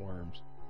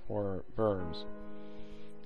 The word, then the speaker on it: Worms: This gave rise to the 1107 Concord of London, Concordat of London, and the 1122 Concordat of Worms, I believe it's pronounced, not Worms.